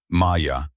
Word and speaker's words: Maya: The second was a sound, a voice saying her name in a specific way with a specific emphasis on the second syllable, Maya, the way only one person had ever said it.